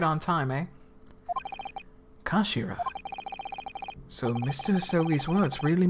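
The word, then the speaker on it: 頭: of the hilt yes it's written head in japanese but it's pronounced as kashira i believe fun fact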